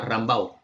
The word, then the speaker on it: Rumbaugh: Jordan y el otro se escribe Rumbaugh, pero se pronuncia como a Rambaugh, ¿ya?